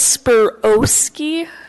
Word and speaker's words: Spirowski: It is Spirowski with a long O. So Spirowski, not Spirowski or any other weird way I've heard it pronounced.